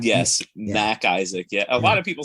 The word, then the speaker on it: MacIsaac: they'll be like uh is mr mckissick there i'm like can you read like it literally says mac isaac like how hard is